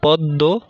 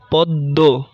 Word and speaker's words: পদ্ম: এক, শব্দের মধ্যে কিংবা শেষে অবস্থিত মফলা যুক্ত বর্ণের উচ্চারণ দ্বিত্ব হয় ও কিছুটা নাসিক্য প্রভাবিত হয়, যেমন পদ্ম, পদ্ম, ভস্ম, ভস্ম ইত্যাদি।